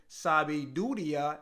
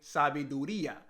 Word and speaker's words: sabiduría: And just recently, one of my Dominican friends, he helped me out because I was saying sabiduría instead of saying sabiduría.